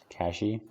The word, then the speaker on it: cache: the um crystal catching cashy yeah just cash it's spelled as like money cash oh a cache is